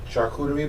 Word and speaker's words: charcuterie: 16th the truck um charcuterie boards yeah good job you said it right almost messed it up i mean you can use the other phrase that my friends use and people phrases that sharkuchi all right this is